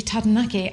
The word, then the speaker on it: Taranaki: and they said oh it's actually tadanaki and it sounds so beautiful when it's pronounced the way it should be but it's hard to